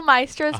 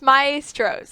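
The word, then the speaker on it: Maestros: ROH yeah okay so my whole life have thought its maestro's like three syllables so even though Jamin told me like countless times that it's maestro did 50 takes on this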